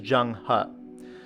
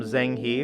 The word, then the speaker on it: Zheng He: And last on the list is Zheng He. I did some research, and some people also pronounce him Zheng He, but ultimately we're talking about the same person.